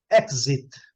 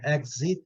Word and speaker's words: exit: Exit. Todo mundo conhece, né, gente? Mas não pode conhecer com êxito, né? Que é sucesso. Success. Né? Exit. Tem duas pronúncias, né? Exit ou exit.